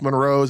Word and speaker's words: Monroe: And of course, my buddy Minx Monroe's, I've been saying her name wrong for the past couple of weeks, and I called myself on it, and she just kind of chuckled and was like, no, it's Monroe.